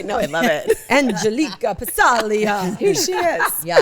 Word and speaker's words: Passaglia: is Chris called them pasiglia for years. Oh, that's right. I think as a joke. No, because he didn't know how to pronounce it. Well, it's Italian. The G is silent.